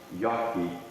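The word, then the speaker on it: Jacki: And his name on the tombstone looks like it's spelled J-A-C-K-I, but it's probably pronounced Yaki, or what we now call Yagi.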